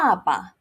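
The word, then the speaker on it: 爸爸: bàba bàba Remember, it's a fourth tone and it's starting with a B, so we do not blow.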